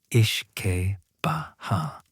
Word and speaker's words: uisce beatha: The Irish called their distilled product Uise Beatha, pronounced roughly Ishke Baha, which translates directly as water of life, their Gaelic rendering of aqua vitae.